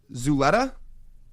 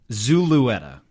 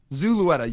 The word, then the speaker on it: Zulueta: It's Yosver Zuleta? Zulueta. Zulueta. Yosver Zulueta.